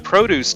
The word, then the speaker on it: produce: influenced by different precedence the noun produce was originally stressed on the second syllable like the verb produced and when the stress shifted the O kept a short sound but in the u.s. it gained a long sound to match all those